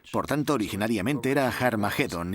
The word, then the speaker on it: Armagedón: De hecho, en las primeras versiones del Nuevo Testamento escritas en griego, Armagedón tiene una aspirada al principio, que significa que se pronuncia con H inicial. Por tanto, originariamente era Har Magedón y podemos pasar de Har Megido a Armagedón muy fácilmente.